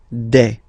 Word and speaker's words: des: All right, here s, you pronounce it like e. Okay, un, une, des.